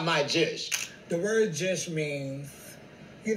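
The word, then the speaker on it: jush: And we spell it J-U-S-H. We took the P out of push and just added a J. And that's jish.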